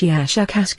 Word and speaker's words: Shakk: of your human letters something like shakk with a very very strong pronunciation of the sh and K sounds we have no for